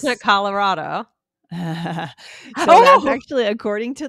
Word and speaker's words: Colorado: It's actually Colorado. Colorado.